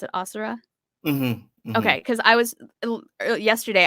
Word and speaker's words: Asura: You pronounce it Asura? Okay, because I was yesterday I was literally going like Asura, like trying to figure out how I would pronounce that. It's Yeah, perfectly Asura, like a taekwondo movie.